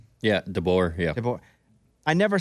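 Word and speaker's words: DeBoer: million bucks a year at Washington like Kell dbor that's how you say his name yeah dor yeah dor I never say it with a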